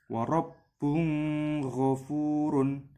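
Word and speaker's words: وَرَبٌّ غَفُورٌ: Cara membacanya jelas, wa rabbun ghafurun. Seperti itu, mudah insyaallah.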